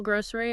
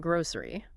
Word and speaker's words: grocery: Yeah, she notes you can say it with more of an ez sound in the middle, grocery, or more of a ziz sound, grocery.